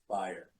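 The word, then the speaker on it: Bayer: one comment for Bryce his last name is pronounced buer not beer and it is interesting that you he had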